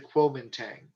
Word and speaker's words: Kuomintang: there we are there's two ways of uh spelling or pronouncing uh the nationalist party we have the woman dang g-u-o-m-i-n-d-a-n-g but the one you're more likely to see is it is a kuomintang q-u-o-m-i-n-t that is the